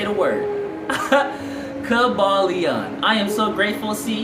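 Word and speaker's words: Kybalion: A Conscious says, Kabalion. Thank you, A Conscious. Thank you for teaching me how to say the word. Kabalion.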